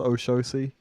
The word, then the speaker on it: Oxossi: You know, I think he's called Oshosi. It's spelt like Oxossi. Oshosi. Yeah.